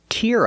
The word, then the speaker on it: tear: We use the ear sound like hear and beer.